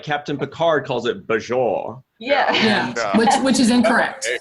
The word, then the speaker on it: Bajor: So it's something between a hard and a soft J.